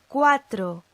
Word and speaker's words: cuatro: However, if we've got a U between a G or Q, a G or Q, and another vowel, it's normally silent. So, listen to our examples. Cuatro, cuatro. Nueve, nueve. Buenas noches, buenas noches.